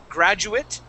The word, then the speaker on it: graduate: that is a graduate, that A is pronounced as an IT, just the same as inadequate. Okay, so graduate and inadequate. It has that same it sound at the end.